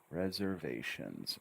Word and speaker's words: reservations: right Reser Reser okay we need a good Z sounding as Z Reser double it up Reser reservations reservations reservations notice I intonate on each syllable Reser ation reservations you can intonate any way you want but I suggest adding intonation to each one that changes instead of reservations reservations which is flat make it come up